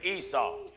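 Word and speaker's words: عيسى: You got Jacob and Esau. Esau in Arabic is pronounced Esa.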